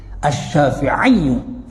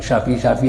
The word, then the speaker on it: Syafi'i: dikatakan oleh Imam Syafi'i Jadi kalau asyafiiyu itu Imam Syafi'i menurut Mualim karena ya nisbah memang harus demikian bacanya asyafiiu harus pakai tasdir jangan syafi-syafi aja di sini diamaq asyafiu